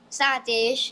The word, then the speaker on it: Satish: Satish, Benjamin, Rasul. Nikolai. and Joshan. Well, you have some name there I can. It was only Satish I can remember, boy. Because it rhymes with Dinesh.